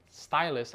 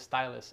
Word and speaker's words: Ztylus: kit mark 2 and stylus i believe that's how you say it it starts with a z but i believe the company name is stylus and originally what i